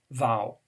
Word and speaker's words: vow: a very important promise it rhymes with wow vow not vote okay vowed